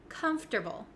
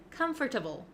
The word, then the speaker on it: comfortable: a little bit tricky there are some extra letters in there that we don't really pronounce and we switch around